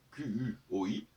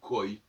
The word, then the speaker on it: quoi: Et même quand je dis quoi, pourtant ça s'écrit Q-U-O-I, ben je dis quoi, je ne dis pas koi.